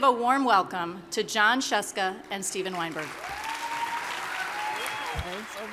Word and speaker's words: Scieszka: Everybody just has to know how to pronounce Scieszka. That's all you have to learn today. Everyone scream Scieszka.